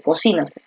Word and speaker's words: cocínaselo: aquí va la tilde, cocínaselo. Oye, cocínaselo, cocínaselo rápido, ¿sabes? Aquí está la fuerza de voz. Es la forma correcta de decirlo.